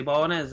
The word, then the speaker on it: bolognese: It's pronounced bolognese.